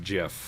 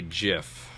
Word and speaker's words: GIF: refuse to do it so just actually pronounced Jeff yeah he's wrong even though it stands for graphics and it has a good it's a gif no it's not he's just wrong okay because he made